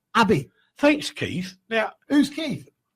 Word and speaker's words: Abi: It's got ABI. That's AB, but it was always pronounced Abby.